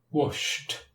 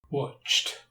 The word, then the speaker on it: washed: So let us look at some examples of ed pronounced as t. Washed, watched, kicked.